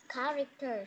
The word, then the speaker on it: characters: Characters. Okay, like this one, we have characters. Okay, in this one, it is silent H. Okay, like that, characters. Not characters. Yes, not characters, it's characters, okay? Silent H.